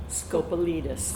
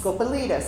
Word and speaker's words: Scopelitis: Scop Scopalitus. Scopalitus.